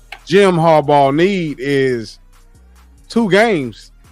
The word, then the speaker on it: Jim Harbaugh: his name right am I saying it right Jim Harbaugh Jim Harbaugh need is two Gam games back in the